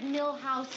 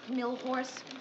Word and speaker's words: Milhous: Grant asked me to remind you it's Richard Milhouse Nixon, not Milhorse.